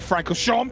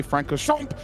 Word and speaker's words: Francorchamps: And no, I'm not angry at Francorchamps. That's just how it's said. Alex Jenkins, you cannot say Francorchamps without saying Champ.